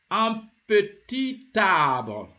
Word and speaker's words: un petit arbre: You see, you have joined the T of the petit with the A of the arbre of the tree, and the word becomes un petit arbre.